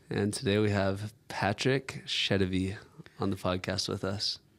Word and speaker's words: Sedivy: And today we have Patrick Sedivy on the podcast with us.